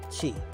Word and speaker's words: Qi: So let me ask you this: what is Qi? You hear everybody talk about Qi, spelled with I, oddly enough. Yes. I always thought it was CHI for the longest time, but you hear about Qi.